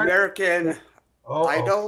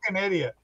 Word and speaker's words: American Idiot: Yeah, American Idol. Is that how you pronounce it? Idiot. Yeah, American Idiot.